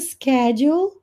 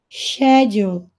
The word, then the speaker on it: schedule: I haven't organized the schedule and things like that and these word is pronounced schedule in British English Oh schedule schedule let